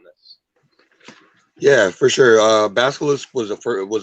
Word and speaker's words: basilisk: to stone or whatever yo how do you pronounce it basilisk okay i say i said bellas blisk oh basilisk basil's okay yep um so yeah